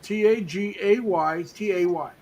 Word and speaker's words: Tagaytay: Tagay. Tay. So I would pronounce that as Tagaytay. Yeah, Okay.